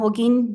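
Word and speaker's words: Holguin: I thought and then it's like okay holen probably I'm not selling pronouncing that correctly good morning my name is hogin j a n a last name hogin h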